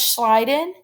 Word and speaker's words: Schleiden: Matthias Schleiden, he said that all plants are made up of cells, so I remember that because it rhymes. Schleiden in the garden.